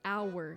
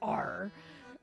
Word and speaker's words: hour: way he was like it's hour not r i was like damn